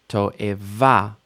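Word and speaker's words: תועבה: Toeva, abomination. Toeva, don't lose that final stress just because there's 3 syllables.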